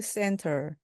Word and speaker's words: center: The Lost and Found Center. 이것이 바로 분실물 센터입니다. 이때 found에서 D 발음을 거의 안 내셔도 됩니다. 그래서 The Lost and Found Center. 이때 center도요, center처럼 T가 거의 발음이 나지 않도록 하셔도 관계없습니다.